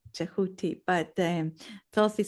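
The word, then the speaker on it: Djehuty: So th um the Egyptian name is jahooti. Jahuti.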